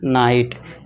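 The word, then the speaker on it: night: से साइलेंट कर देंगे इसे क्या पढ़ेंगे हम नाइट जी एच साइलेंट है ये ध्यान देना है ठीक है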